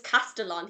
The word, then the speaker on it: Castellan: I just honestly, I thought it was Castellan. And obviously, Castellian or something. it's Castellan, he says. And I'm What? like, that's weird. I'm not saying it like that.